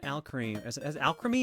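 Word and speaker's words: Alcremie: Alchemy is how you say it. Like alchemy. And my creamy. Al creamy.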